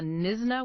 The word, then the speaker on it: Knysna: We're zeroing in on a highly specialized, incredibly elusive, and honestly strangely contradictory bird from South Africa called the Nisna Woodbecker. And for anyone taking notes, that's spelled K N Y S N A.